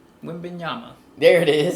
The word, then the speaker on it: Wembanyama: Wembanyama. There it is. It's the mod then. Yeah. Wembanyama.